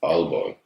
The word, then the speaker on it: Aalborg: here, I feel like Aalborg has the opportunity. I don't know if I'm saying it right, Aalborg.